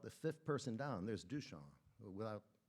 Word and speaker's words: Duchamp: 5th person down, there's Duchamp. He didn't bother with the P. You don't pronounce it anyway. So he's recommending that Duchamp be included in that